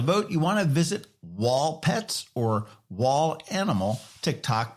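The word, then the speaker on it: Wahl: Now, to vote, you want to visit Wall Pets or Wall Animal TikTok pages and comment with the hashtag Wall Dirty Dogs Contest on Kaylee's video. And Wall is spelled W-A-H-L in all of those.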